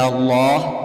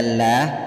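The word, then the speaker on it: الله: dipanjangkan 2 harkat yuk lafadz Allah dibaca Allah tidak dibaca lah karena huruf sebelumnya yaitu mim berharakat dhammah kalau huruf sebelumnya berharakat kasrah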